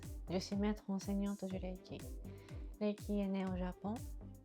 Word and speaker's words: Reiki: Reiki est souvent appelé en France Reiki, ou en anglais, aux États-Unis, souvent Reiki. Mais encore une fois, au Japon, il n'y a pas cette prononciation de R à la française ou à l'américaine ou anglophone ou francophone. Donc, en son d'origine, c'est Reiki.